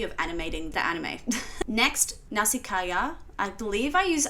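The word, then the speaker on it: Nausicaä: animating the anime next nasikaya I believe I use I've always said norsika but I believe I'm completely wrong and it's actually like nasika I've been saying it wrong the whole entire time but nasika of the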